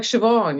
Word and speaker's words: Siobhan: them up it's like Siobhan you're an admin person BH Sinead that's a very good point you were something thinking oh my God if I've been saying sinead's name wrong all this time oh my God okay well you've probably heard of Siobhan as another name oh wow okay but it's like there's a v there where the m and the